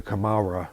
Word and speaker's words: Kamala: And Ben Peacock was called at the time Kamala the Second, mm-hmm. and then afterwards they just changed it to Kamara, which is, of course, the Japanese pronunciation of Kamala.